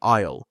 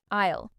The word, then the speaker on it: aisle: Word number 3, aisle. Aisle. Repeat after me. Aisle. Be careful with the spelling A-I-S-L-E. The S is silent.